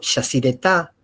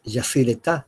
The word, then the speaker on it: Yacyretá: Nosotros decimos Iguazú, pero la pronunciación es Iguazú. O Yacyretá, que es Yacyretá.